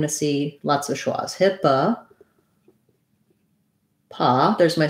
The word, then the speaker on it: HIPAA: about with ship and then that first o says uh hippa then in the stressed syllable very often in english when you have letter o in a stressed syllable it's going to say that ah sound just like we were looking at in the previous word um so hipaa pa then this t becomes a flap sounds like a light